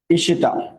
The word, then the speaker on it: ঈশিতা: যেমন ধরো আমি একটা এক্সাম্পল লিখছি, ঈশিতা। ঈশিতা শব্দের মধ্যে দীর্ঘই ছিল, এটা উচ্চারণে রস্বই হয়ে যাবে।